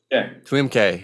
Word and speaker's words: Tuemckey: Tuemckey, yeah. I had it right, but yeah, you know, I'm bad with names. Nobody pronounces it right, even I don't pronounce it